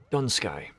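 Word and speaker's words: Dun Scaith: specifically but um yeah a lot of people will pronounce the th when it's just not there but while we're waiting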